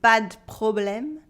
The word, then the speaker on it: pas de problème: But in everyday spoken French, the E of the would be removed, so we'd say pas de problème, pas de problème.